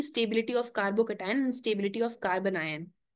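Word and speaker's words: carbocation: अब क्लियर हो गया, प्रोनाउंसिएशन आ जाएगा कार्बोकटायन।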